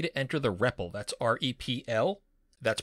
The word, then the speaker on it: REPL: That's R-E-P-L. That's pronounced REPL, and it stands for Read, Evaluate, Print Loop.